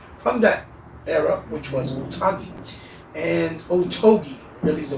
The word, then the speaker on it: Otogi: of their library from that era, which was Otogi. And Otogi, really is the way you pronounce it.